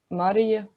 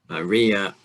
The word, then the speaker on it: Marija: I will harshly stress the second syllable. Maria. No, it's just Marija, you know. Maria. Okay, so like no, it's collapse. Just Maria. a single sound. Marija. Maria. It's just poof here and then it's away.